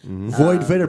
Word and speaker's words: Void Vator: Void Vator, but VOID, the most important part. Yeah, spell it right. VATOR. VATOR. It's kind of like TOR. Gatorade.